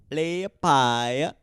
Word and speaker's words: Liepāja: Liepāja.